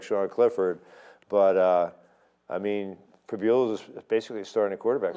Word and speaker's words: Pribula: Pribula, he's from York. We should know how to pronounce it. Yeah, Pribula.